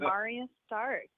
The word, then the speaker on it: Marya Stark: golden eggs music show tonight we're here with Mario stark no doubt how you say your name Martin Mario ma Morgan yeah that's how you say it Andrew hi I'm Arya Stark so great here III thought against a marine